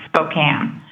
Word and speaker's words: Spokane: Um my tip is Tony and Tom can't pronounce Spokane.